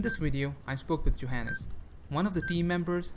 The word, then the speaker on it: Johannes: I'm pronouncing your name it's Johannes yeah it's fine it's fine right correct yeah okay cool so